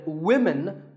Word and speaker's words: women: crazy spelling system but remember that we say woman for one woman and women for the plural women word number six is